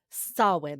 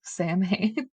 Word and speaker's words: Samhain: And sow, like cow, in, I think is how I saw.